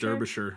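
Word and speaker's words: Derbyshire: to say this der derish derish derish would be my guess it's it's written like Derby Shire but my guess would be derish derish something like that um so while she's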